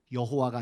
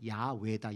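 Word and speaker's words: 야훼: 이게 맞는가보다 이렇게 했지만 더 학자들이 연구해보니 여호와라고 쓰여진이 단어의 진짜 히브리어 발음은 야외다 야외가 아니고 그래서 이제는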